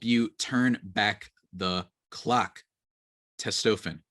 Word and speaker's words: Testofen: T Testosterone Booster with Testofen will help you turn back the clock. Testofen, I should say, actually. I pronounced it wrong.